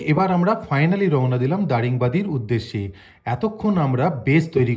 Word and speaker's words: দারিংবাদি: পৌঁছাতে আর কি দারিংবাদিতে কি ভাবছেন বারবার দারিংবাদি ভুল নামটা কেন উচ্চারণ করছি আসলে আমিও আগে দারিংবাড়ি জানতাম কিন্তু এখানে এসে একজন লোকাল শিক্ষকের সাথে কিছুক্ষণের জন্য আলাপ হয়েছিল তিনি আমায় শুধরে দিলেন আসলে দারিংবাদী হলো পূর্ব ভারতের উড়িশা রাজ্যে